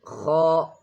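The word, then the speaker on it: خ: Then kha, kha is a heavy letter. Kha is a heavy letter. Kha, kha is a heavy letter. The sound comes from the back of the throat.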